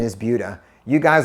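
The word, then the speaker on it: Buda: couple people we have one called budha the pronunciation is budha you guys like to come in town and say Buddha another one is Sam Marcus or you guys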